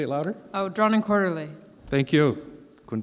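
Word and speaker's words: Drawn & Quarterly: um drawn and quarterly say it louder oh drawn and quarterly thank you couldn't pronounce it hark a vagrant uh spent five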